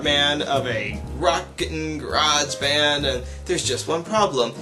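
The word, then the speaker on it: Grojband: a show called uh garage band which is not spelled like garage band it's groj band garage band because poor literature is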